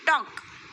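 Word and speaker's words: talk: अब क्या करना है आगे, look at the word टॉक, here I is silent. देखो टॉक में जो ये वर्ड्स है ये साइलेंट है ना, हियर I is silent.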